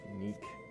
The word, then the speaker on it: Nicholas: It's for Nicholas, so it's like Neek. The H is silent because of my native language is French.